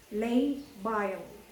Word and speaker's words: labile: Lay, L-A-Y-B-I-L-E, pronounced as labile hypertension sa kakanaog nga blood pressure.